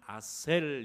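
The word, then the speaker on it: אָשֵׁר: 아세르. 이것을 히브리식으로 발음하면 아셀 이렇게 되는 것입니다.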